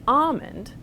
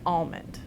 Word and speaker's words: almond: it back in so you have some speakers who have the older pronunciation palm and almond but then speakers like me who've put the L back in and have palm and almond and sometimes you will